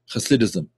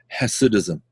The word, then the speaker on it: Hasidism: is called Hasidic thinking, Hasidism, or for those that are not used to pronouncing the ch sound, Hasidism.